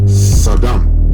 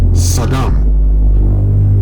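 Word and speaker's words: סדום: Now, in the Hebrew, the word Sodom is pronounced, like I said, Saddam. Okay. You understand what I'm saying? The word is Saddam. Okay?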